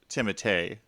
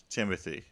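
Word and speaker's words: Timothée: his last name but i believe it is timothee not timothy wait really to me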